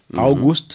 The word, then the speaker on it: August: Voilà, parce qu'en allemand, tout se prononce. Ouais. Le A, August. le U qui est un OU, August. le G qui est un G, ensuite le U qui revient OU, August. S-T, August.